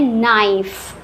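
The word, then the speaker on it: knife: इसको पढ़ते हैं नाइफ। नेक्स्ट है साइलेंट लेटर एल।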